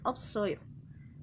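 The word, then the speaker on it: 없어요: Así es como se pronuncia, opsoyo.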